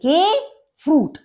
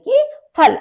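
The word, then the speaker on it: Kaffee: washer यानी water पानी काफे काफे कॉफी क्योंकि अ ए जो है वो आ बोला जाता है जर्मन में तो काफे कॉफी टे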